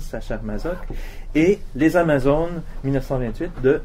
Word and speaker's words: Sacher-Masoch: Une Amazone 1845 d'Alexandre Dumas, l'Amazone de Prague 1890 de Léopold von Sacher-Masoch, mais je prononce à la française, Sacher-Masoch, et Les Amazones 1928 de René Dunant.